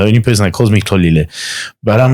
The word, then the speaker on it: Xolile: middle name is Xolile, but I call him Xolile because I know that it is and I can pronounce it. Yeah. So his name is Nelson, but I call him Xolile, and he laughs every time because he's like,